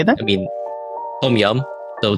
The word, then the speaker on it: tom yum: I mean, tom yum. So TOMYUM, tom yum.